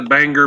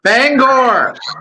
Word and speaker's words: Bangor: Yeah, I actually was got to see the Bangor, Maine airport a couple of Bangor. No, it's Bangor, Maine's airport. That's the only time we say an R.